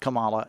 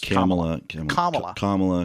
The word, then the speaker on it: Kamala: our vice president's name it is not Kamala it is commala Kam sorry all right